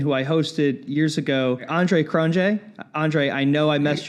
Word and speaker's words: Andre Cronje: The technical accurate one is the Afrikaans, which is Andre Cronje, but most dialects and tongue movements don't even facilitate that K, that R, or that J sound.